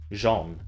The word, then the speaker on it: Zeon: I'll skip over the lowhanging fruit, like the corny acting, cheap costumes, and infuriating gameplay, and that Zeon is pronounced Jean.